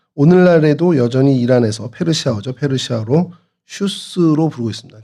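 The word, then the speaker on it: شوش: 페르시아로 슈스로 부르고 있습니다. 그러니까 같은 어 단어인데 이제 발음이 좀 페르시아로 가면서 조금 변형된 것이 슈스입니다. 그래서 어 슈스라고 하고 또 영어로는 구글 지도나 이런 데는 그냥 수사로 표현이 되고 있습니다.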